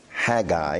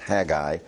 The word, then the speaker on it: Haggai: your old testament to the prophecy of Haggai Haggai is the correct pronunciation I don't think I've always pronounced it correctly in the past Haggai and if you start at the end of